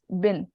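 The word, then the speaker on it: ابن: When you have ibn, the word ibn, coming in between an ism and an ism, the alif is not pronounced. So it just becomes bin.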